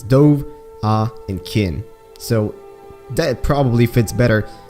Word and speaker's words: Dovahkiin: start of the game they very clearly pronounce it as three different syllables this douve ah and kin so that probably fits